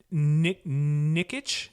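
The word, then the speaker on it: Nikic: the name of chris and i hope i pronounced his last name properly nikitch it's n-i-k-i-c um so he is actually uh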